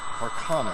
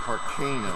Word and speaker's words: Carcano: Carcano. That is the way most people pronounce it. I did read that Carcano is really wrong. Carcano.